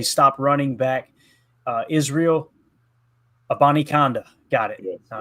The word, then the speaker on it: Abanikanda: Stopped running back uh Israel Abanikanda. Got it. All right. Had to go back to Daryl's pronunciation there. Abanikanda.